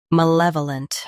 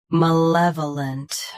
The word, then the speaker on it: malevolent: Malevolent. Malevolent. Stress luh. Keep vuh soft and finish with lunt clearly.